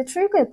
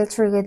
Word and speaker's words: pterygoid: The pterygoid maxillary fissure starts with P. Well, the P is not pronounced, but it's spelled.